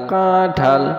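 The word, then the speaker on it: কাঁঠাল: আকারে ঠা ঠা ঠা, কাঠা ল ল ল ল, কাঠাল কাঠাল কাঠাল, আমরা যে কাঠাল খাই সেটাই সহি উচ্চারণ কাঠাল।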